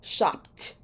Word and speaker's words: shopped: That final sound is a P sound. P. Shop. So the past tense of shop is shopped.